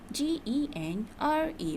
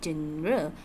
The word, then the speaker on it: genre: is what is gendra g-e-n-r-e but the pronunciation is not general or general but it is genre genre is a particular